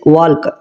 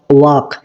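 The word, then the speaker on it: walk: silent letter বলবো কেন কারণ এই শব্দটাতে এল এর উচ্চারণ হচ্ছে না ঠিক আছে ওয়ালক এটা কিন্তু ভুল উচ্চারণ সঠিক উচ্চারণ হচ্ছে ওয়াক ওয়াক দেখো এল এর উচ্চারণ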